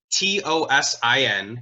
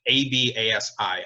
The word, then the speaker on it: Tosin Abasi: I really, if I were to pick one person, there's only one person that comes to mind, and that is the guitarist Tosin Abasi.